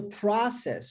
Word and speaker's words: process: Quando eu digo is the process, olha só, você tem o O, que é no alfabeto pronunciado como OU, e agora pronunciado como A, olha, aberto, process.